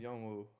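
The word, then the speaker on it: 현우: But in like Korean, it's pronounced Youngwoo. They don't really say the H.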